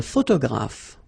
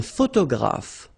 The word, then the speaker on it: photographe: Un photographe. So here, PH, and here, PH, pronounce it like F, F, F, F. Photographe.